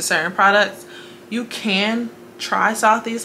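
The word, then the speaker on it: Sothys: southeast to fenty my face did not purge now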